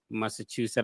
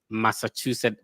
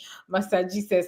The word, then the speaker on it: Massachusetts: So I completely understand when people say master Jesus like you don't want to know how you pronounce it.